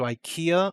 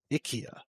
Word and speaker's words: IKEA: IKEA. Do you guys pronounce it IKEA in England? Oh no, we say IKEA. The IKEA is more how it would be pronounced in Sweden, because in IKEA adverts